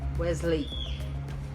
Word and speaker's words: Wesley: E essa aqui, interessante que essa aqui são duas sílabas. A primeira sílaba é Wes e a segunda Lane. Wesley.